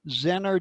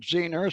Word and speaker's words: zener: now this is a zener diode some people call it zener some people call it zener long time ago i looked it up and actually both pronunciations are correct believe it or not